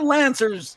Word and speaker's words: Lancers: She played for the University of Windsor Lacers or Lancers, Jaydlin? How do you say it? Lancers. It's just like you lance the tumor.